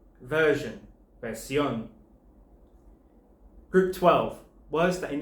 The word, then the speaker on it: versión: over the O to mark that the last syllable is the one that's stressed. Here's three examples. Conclusion, conclusión. Decision, decisión. Version, versión.